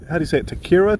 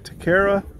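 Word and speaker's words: taquería: Yeah, you know, it's our last day here, and that Juanita's, Takira? Taqueria?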